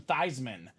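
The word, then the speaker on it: Theismann: favorite story Joe thyman his family name Robie pronounced the thesans but went to Notre Dame they campaigned for him to be the Heisman so they changed his last name he pronounced to thyman Theisman for the Heisman right oh yeah so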